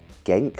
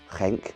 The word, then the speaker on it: Genk: Before we head over to, it's only like 26 minutes away, to Genk or Genk, I'm told it's supposed to be pronounced as.